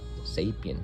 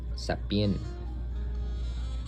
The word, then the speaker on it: Sapien: My last name is not Sapien, it's Sapien, and all these things, right?